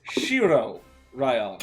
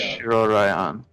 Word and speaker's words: Shiroraion: Yeah, So it's Shiroraion. live. Yeah. There we go. Shiroraion.